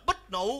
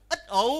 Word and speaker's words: Bích Nụ: Nó tên là bích nụ. Đúng. Chứ không phải là ít ụ.